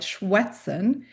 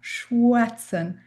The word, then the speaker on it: schwätzen: seeing on the slide, schwätzen, it is pronounced like the English W. It's a w sound, schwätzen.